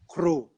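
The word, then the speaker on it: ครู: In Thailand, we pronounce teacher as kru, or Okay. kuru.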